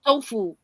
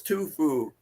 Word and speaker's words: Tufu: We call him Tu, but his real name's Tufu. I think that's how you pronounce it. It's But like tofu. Like how I eat. that's what I'd always say, and he'd be like, "No, it's Tufu."